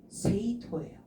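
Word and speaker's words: 政党: 근데 무리 당자는 토예요.도 정당이 그래서 세이토예요. 세이토라고 읽어 주시면 되겠습니다.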